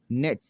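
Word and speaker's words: gnat: है, वो ये है, अगर किसी लफ्ज़ में एन से पहले जी आता है तो जी हमेशा साइलेंट होगा, जी हमेशा साइलेंट होगा। कैसे जी साइलेंट होगा? ये जी नहीं पढ़ा जाएगा इसमें। नेट, पिस्सू, रिज़ाइन इस्तीफ़ा देना,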